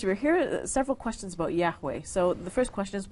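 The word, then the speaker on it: Yahweh: Bible in the Bible only the four consonants are mentioned y h WH and scholars now fill it out to say that yahwe is the best er pronunciation uh now according to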